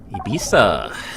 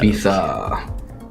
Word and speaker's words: Ibiza: Ibiza. Yeah. You got to say it with a lisp. It depends what Spanish you speak.